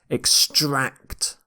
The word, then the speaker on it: extract: tooth extract okay extract watch the ending here bouncing extract you stress the second syllable here extract can be used as a verb or a noun but as is often the case with english words we tend to stress the second syllable in a verb when we use this word as a noun we say extract extract so if it's a noun you tend to stress the first syllable in this lecture i'll